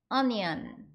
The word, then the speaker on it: onion: 앞에 있는 O는 발음하시면 되고 N은 N 발음 나죠. 그리고 I는 E 발음 내주시고 끝에 ON은 on 해주셔서 onion 이렇게 발음해 주시면 돼요.